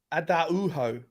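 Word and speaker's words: Araújo: Adauho.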